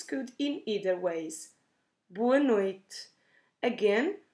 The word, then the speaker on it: noite: in either ways boa noite again we can drop that last e at the end of noid or pronounce it in a very soft way or we say boa